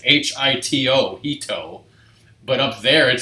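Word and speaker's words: 人: See, like in the book I'm pointing to, it says H-I-T-O, hito.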